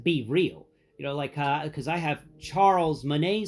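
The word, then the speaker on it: BeReal: I mean, it's pronounced barrel, but it's freaking French. So I pronounce it Be Real.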